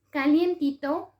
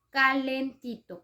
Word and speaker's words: calentito: Y otro ejemplo que tenemos, calientito. Calientito está mal dicho, calientito no es correcto. Es un barbarismo, la forma correcta es calentito.